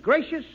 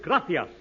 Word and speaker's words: gracias: Muchas, gracious, amigo. No, no, no. Not gracious. That word is gracias. You see, in Spanish, the C is pronounced th.